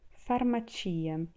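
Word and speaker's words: farmacia: é para uma tia tem a pronúncia forte do ti e muda a sílaba tônica também então faro matia e daí além do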